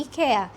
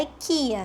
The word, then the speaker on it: IKEA: Aqui a a essa palavra, o nome dessa dessa loja se pronuncia assim, ika.